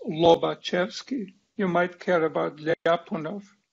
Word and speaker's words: Lobachevsky: that gets spelled in various ways but it's pronounced lobochevsky you might care about legapunov and so on